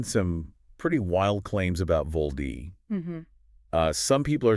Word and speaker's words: VOLD: But pronounced VOLD.